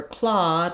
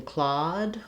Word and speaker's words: Claude: I saw him using Claude, or I taught Claude. So looking at our aw vowel, this is also tricky. It's spelled a lot of different ways. It is AW like aw and saw.